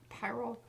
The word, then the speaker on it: pyrrole: The pyrrole?